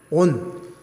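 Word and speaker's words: 恩: 일본에는 온, 그러니까 은혜 은자를 일본 사람은 온이라고 발음해요.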